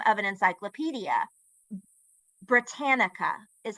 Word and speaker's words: Britannica: gave her the note that it was pronounced Britannica, she would continue to pronounce it Britannicia, Britannicia, Britannicia.